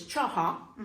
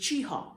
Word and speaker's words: Cheaha: So the original was Cheaha. And if you go back to the Upland Highlands video, and I'll share that with you. Okay. The original pronunciation that they had for the park was Cheaha, very nasally. And we have now moved to a modern pronunciation of just Cheaha.